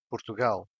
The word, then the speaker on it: Portugal: If the word ends in ar, for example, andar, which means to walk, el, for example, Portugal, the stressed syllable is in gal.